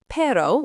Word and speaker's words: perro: Perro, phát âm là PEH-rroh với chữ R cuộn tròn, có nghĩa là chó khi là giống đực.